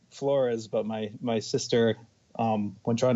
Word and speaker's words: Flores: I've always been Flores, but my sister, when trying to get into college, started pronouncing it as Flores, so she could get some special grants and whatnot.